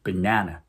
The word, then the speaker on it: banana: 예를 들어 강세가 두 번째 있는 바나나, 고릴라, 바닐라는 영어로 banana, gorilla, vanilla처럼 발음해줘야 영어 화자들이 쉽게 그 단어를 캐치해준다는 거죠.